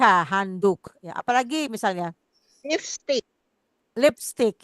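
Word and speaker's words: handdoek: handuk handuk betul handuk Tapi tulis ya beda ya di Indonesia handuk pakai u Tapi di sini Han do eh o e k handuk ya apalagi misalnya lifstick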